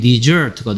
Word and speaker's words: dessert: 반면에 s 뒤에 있는 e에 강세를 줘서 dessert라고 읽으면 발음이 dessert가 되면 뭐하다? 버리다 라는 뜻이 됩니다. desert, dessert. 그리고 버리다 라는 뜻일 때 dessert 발음이 후식이란 뜻의 dessert하고 발음이 똑같습니다.